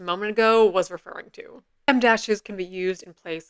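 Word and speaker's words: em dash: At last, the reason we've gathered here today, the m dash, which, as you probably guessed, is the width of a letter M, though it is spelled em.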